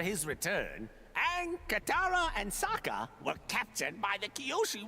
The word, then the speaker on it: Sokka: I'm Sokka. It rhymes with an Akka.